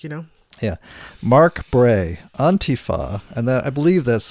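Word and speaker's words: Antifa: a good book you know yeah mark Bray on Tifa and that I believe that's the correct pronunciation on not ant on Tifa because it's taken from Italian all right means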